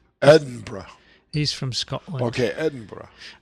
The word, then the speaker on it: Edinburgh: I've been cringing recently whenever you pronounce Edinburgh as Edinburgh. It's Edinburgh. Edinburgh.